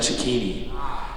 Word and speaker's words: Cecchini: Brian tried his best, but my last name is pronounced Chucini.